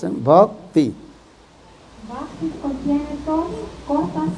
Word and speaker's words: Bhakti: Bhakti, very small, two syllables. Bhakti.